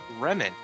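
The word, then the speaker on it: Remon: this a little, and it's actually Remen. It's spelled R-E-M-O-N. It's kind of like it, just lemon with an R.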